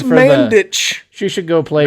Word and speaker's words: Mandic: Ivana Which is pronounced Mandic. CH. She should go play It's for the. Mandich.